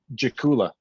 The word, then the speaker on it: Dzakula: herzegovina and then yeah anytime you see a d and z like that it's gonna pronounce it's gonna form like a strong j so right or just